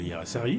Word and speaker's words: Hiairrassary: Ai-je écorné Non, votre... pas du tout. Je pense que vous êtes assez bon dans la prononciation des noms compliqués. Ah, d'accord. Hirassari, alors, c'est basque.